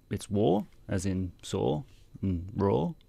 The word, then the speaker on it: Waw: Firstly, it's called War.